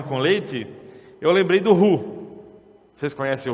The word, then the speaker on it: roux: deixa eu apresentar o roux para vocês.